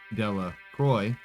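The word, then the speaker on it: Delacroix: Harry Jones and Dicky deac Croy the villagers pronounce this name de Croy eventually made a great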